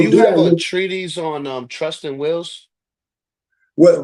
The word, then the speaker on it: treatise: States per se I think that's how you pronounce it. It's or trustees. TREA. No. It's not trustees. It's all right. So let me treatise.